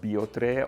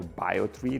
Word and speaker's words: Biotrē: They use this uh bag which is designed from a material called biotre or biotri depending how you pronounce it.